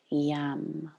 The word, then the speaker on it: Yam: And into this space, we can drop the syllable Yam, Y-A-M, Yam.